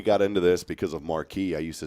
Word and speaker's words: Marquez: tamale man and so whenever I see a town that's spelled m a r q e z you would think it's Marquez right it is but it ain't here in East Texas you know what it is marquee Marque I'm like somebody